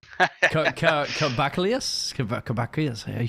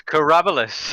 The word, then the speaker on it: Karabelas: Karabelas? Oh my god! Yeah, I butchered it. You butchered it so hard. It's Karabelas.